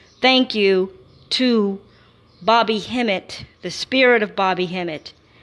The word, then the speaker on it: Hemmit: god of hot Bobby himmat which actually let me see would be Kim it kind of he his name rhymes with Kim it you know you take